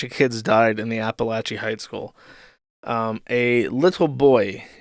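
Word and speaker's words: Apalachee: In Apalache, now this one is spelled how it's pronounced. When you look at the word Appalachian, it looks like that. But when you look at this, you know it's pronounced Apalache.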